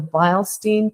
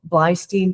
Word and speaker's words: Beilstein: It's called the Beilstein test or Blystein test. It has all kinds of different pronunciations depending on who's talking about it.